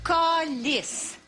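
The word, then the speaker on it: câlisse: devient autrement plus utile lorsque prononcé col col on répète après moi s'il vous plaît colisse coliss je dis qu'il devient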